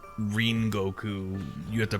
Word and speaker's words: Rengoku: Don't call him Rengoku. His name is Ringoku.